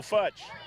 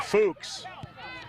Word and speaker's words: Fuchs: Leonardo Futch. Or Fuchs, properly pronounced.